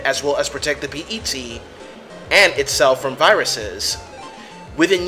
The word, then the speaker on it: PET: Hikari's research was the PET (PErsonal Terminal, pronounced P-E-T rather than the word "pet"), a small computer which is